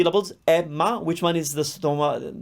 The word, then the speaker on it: Emma: emilia emilia another name emma emma here the difference emilia the opening a was closed but for emma we opened it up why well because out of the two c levels emma which one is the